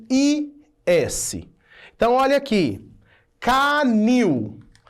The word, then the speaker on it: canil: Canil. A última sílaba é a tônica, termina com IL e ela é uma oxítona.